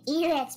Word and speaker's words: Eret: No, it's Eret. It's Eret.